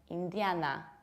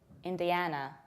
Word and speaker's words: Indiana: Another state is this one, very often mispronounced, like Indiana or Indiana, whereas in fact it's Indiana, Indiana.